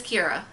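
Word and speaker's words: Qi'ra: But her name is Kira. I know. And in credits, it's spelled Q-I-R-A.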